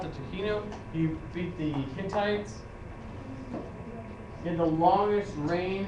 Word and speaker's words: Hittites: he defeated the Hittites he defeated the Hittites not the hitties it's the Hittites why looks like it's not it's Hittites I'm telling you how to pronounce Hittites it's Hittites it's not hi yes what else we